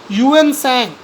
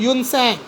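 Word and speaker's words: Tuensang: Okay, the pronunciation is Yuan Sang. T silent है, Yuan Sang.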